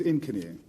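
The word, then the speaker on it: incony: The pronunciation is Inkany.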